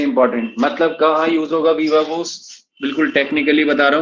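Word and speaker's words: viva voce: वूस, वीवा वूस, VOCE, वीवा वूस, इसका pronunciation है वीवा वूस, वीवा, वो बिल्कुल सही स्पेलिंग है VOCE, ठीक है, वीवा वोस।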